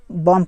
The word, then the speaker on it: bomb: और एक हो गया बॉम्ब, BOMB, यहाँ पर भी यम के बाद जो बी आया है उसमें बॉम्ब पढ़ा जाएगा, बी वो साइलेंट हो गया है।